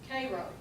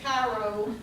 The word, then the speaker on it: Cairo: Now, the ones of us who grew up around here, you know I'm saying it right. If you ever hear anybody pronounce it Cairo like it should be, you know they're not from here.